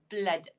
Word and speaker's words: blood: But this word is actually pronounced as blood.